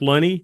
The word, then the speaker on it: Lunney: would always put Loney and then parenthesis rhymes with money that way the announcer